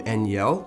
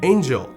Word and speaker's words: Angel: Hall of Fame member, whom I've previously pronounced his name Eniel, but in this email, apparently it's pronounced Angel. Okay, so Angel.